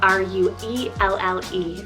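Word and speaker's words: Ruelle: Then for something a little bit more girlier, but still edgy, we have Ruel, spelled R-U-E-L-L-E, Ruel.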